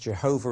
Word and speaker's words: Jehovah: letters of God's name that's pronounced Jehovah in English and Yahweh in Hebrew now to help you